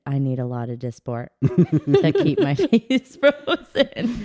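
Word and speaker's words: Dysport: what so Mandy does Botox I do it's disport disport okay I've been pronouncing it wrong I get it injected in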